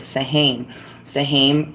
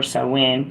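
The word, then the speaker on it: Samhain: the card it was Sahan sahim or sawin depending on how you pronounce it is October 31st okay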